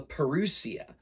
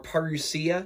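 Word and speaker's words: Parousia: saying it in shorthand what's called the perusia or parusia you can pronounce it either way that you like that basically uh assumes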